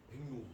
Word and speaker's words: 백로: 자, 뭐라고 발음하게 해요? 백로. 예. 이제 여태부터 여러분들 스스로의 발음이 없어지기 시작합니다. 예, 한국어를 잃어버려요. 거의 인어공주급이에요. 예, 스스로만 의심하기 시작해요. 백로, 벨로, 막 그죠? 예, 그러시면 안 되고 그럴 때 어떻게 하라고요? 3번 정도 그냥 연속으로 발음해 보시면 예, 백로. 힘주면 안 돼요. 자연스럽게 하셔야 돼요. 막 힘줘서 의식하시면 이상해집니다. 뭐라고요? 백로예요.